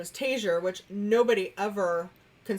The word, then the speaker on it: Taziar: His last name is Taziar, which nobody ever can spell, say, pronounce. So now you know how to pronounce it if you watched our live stream. Yes. But we always get Taziar, which, hey, I wish we got royalties off